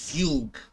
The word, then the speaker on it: Fugue: Oh, it's pronounced Fugue. Fugue, formerly known as Tingyin, or to be Tingyin's alternate name. Oh my god, she's so elegant. I am so pulling for Fugue. I thought it was pronounced Fugue, but apparently it's pronounced as Fugue.